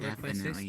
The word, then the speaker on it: Requestis: Oh yes, of course, Requesta. It's always nice to see you around. Okay. That's my name. Isn't it Requestis, not Requesta?